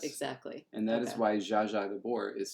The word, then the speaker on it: Zsa Zsa: If Z is z, then ZS is Z, but pronounced the way sh is. So, zh. Makes perfect sense.